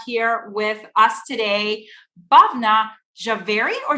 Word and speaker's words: Jhaveri: excited to have here with us today babna javeri or javery how do i pronounce that javari was perfect very okay wonderful thank you so